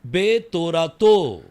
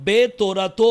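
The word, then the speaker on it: בְּתוֹרָתוֹ: तो इसको आप उच्चारण करते समय कैसे कहना है? பே தோராத்தோ. बेतोरातो। சோ பே தோராத்தோ அப்படின்னு சொன்னா तो जब बेतोरातो कहते हैं இன் ஹிஸ் லா அப்படின்னு சொல்லி வரும்.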